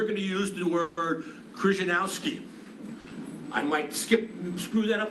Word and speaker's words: Krzyzanowski: So I'm going to take a liberty, and I'm going to pronounce his name the way I learned growing up in North Jersey in the 1950s and 60s with all my Polish friends.